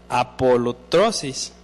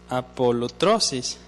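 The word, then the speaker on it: ἀπολύτρωσις: que habla ese versículo esa palabra se deriva de una palabra griega que se escribe o se pronuncia apolotrosis apolotrosis esta palabra apolotrosis denota o nos da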